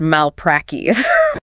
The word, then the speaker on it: malpractice: And violating those standards brings us to malpractice. Pronounced mal-prac-tis.